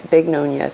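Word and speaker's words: Bignonia: I'm not mispronouncing beonia. It's bigonia. B I G N O N I A.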